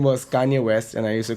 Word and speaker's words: Kanye West: the finest artists in the world, I was mispronouncing his name. His name was Kanye West, and I used to call him Kanye West, okay, because I am Noida boy, which South Delhi Sarthak and Gurgaon Neetu had forgotten.